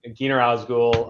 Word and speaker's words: Gyner Ozgul: uh ages like two seconds on me um Keener osgul uh I'm the president and Chief Operating Officer